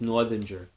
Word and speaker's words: Northanger: I'm not even going to repeat what I said, but I pronounce it like most people might pronounce it based on the words, based on the syllables. So it's Northanger.